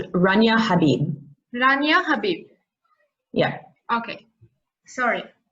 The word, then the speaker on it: Rania Habib: Rania Habibi. Uh, Dr. Habibi, thank you again and welcome. Sorry, it's pronounced Rania Habib.